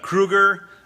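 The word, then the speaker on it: Krugarr: It's Kruger, and that's the pronunciation of that character's name, who's a sort of sorcerer from another planet.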